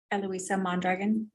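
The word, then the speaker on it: Eloisa Mondragon: you'll state your name for the record and spell it please eloisa mandragon that's e- l o i s a last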